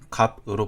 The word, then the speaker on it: 값: 삶은 삶, 여덜은 여덜, 흙은 흙, 값은 갑으로 발음됩니다.